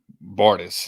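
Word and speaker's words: Bartes: know we'll we'll uh Bartel is spelled b-a-r-t-e-s okay bartis is how it's pronounced but I always have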